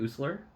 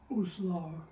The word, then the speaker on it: Uslar: Uslar. Uslar, Uslar.